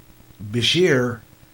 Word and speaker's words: Beshear: because this Beshear beat I pronounce it this year apparently and I'm waiting for it to come up again and it's not coming out of either it is apparently Beshear there's like a 5,000